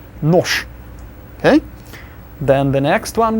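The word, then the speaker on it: нож: So all of those voiced consonants, the b, etc., v, they will become their voiceless counterparts at the end of words.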